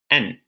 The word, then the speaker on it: and: And is a conjunction, so a function word, and it's pronounced and. The strong form of the word is and. But in the phrase bread and butter, for example, and is actually pronounced n, with a schwa sound. Yeah. Do you want to? So and becomes n.